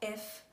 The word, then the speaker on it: FH: die ihr gehört habt sprechen wir hier die abkürzung als zwei getrennte buchstaben aus also fh mit der betonung auf h das ist eine möglichkeit